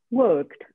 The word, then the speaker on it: worked: Il suo passato si forma aggiungendo una E e una D e si pronuncia worked. La E si scrive ma non si legge. Worked.